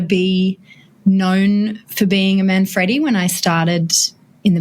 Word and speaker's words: Manfredi: And just a slight correction, it's Man Freddy. Man Freddy Freddy.